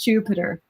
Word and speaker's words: Jupyter: thing makes sense that because jupyter come from Julia peyten and all right that's that's to remember it to be pronounced Jupiter doesn't matter again okay